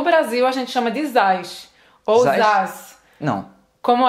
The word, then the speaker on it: Zaz: e o M, você tem que terminar a pronúncia, senão vai ficar Zaz, né? Vai, então, pode ir. Zaza.